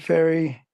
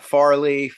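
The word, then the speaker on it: Fairey: right right it's not it's it sounds like sounds like the goes across the yeah yeah people always want to say Farley faray I'm like no no it's just like too just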